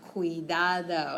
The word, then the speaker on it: cuidado: But when we have C-U, it makes it sound like a K.